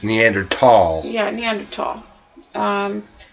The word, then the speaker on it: Neanderthal: all of these perverted actually the correct pronunciation these days is neander tall yeah neander tall um